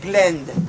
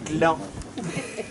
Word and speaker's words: Gland: Ça se prononce Glend, pas Gland.